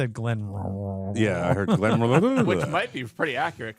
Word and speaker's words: Glenmorangie: Glenmorangie. Glenmorangie.